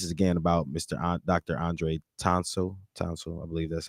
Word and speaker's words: Townsel: Townsend, TOWNSEL. Yeah, Dr.